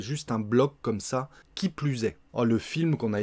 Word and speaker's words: qui plus est: On va bien faire la liaison avec le S. Hein. Qui plus est.